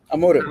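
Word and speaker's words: Amorim: and uh amore right what's how do you pronounce his name amore yeah amore like he meant they were actually the better team and uh they could actually won it.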